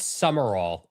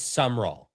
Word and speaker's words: Summerall: That should be 3 syllables, but it's just 2. Yeah, it's not Summerall, it's Summerall.